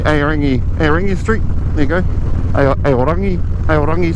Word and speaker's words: Aorangi: There you go, Aorangi Street. Is the right Māori pronunciation.